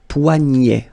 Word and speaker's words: poignet: So this combination of ET at the end will basically open the sound. So you get poignet. Okay, remember, G-N, poignet, le poignet.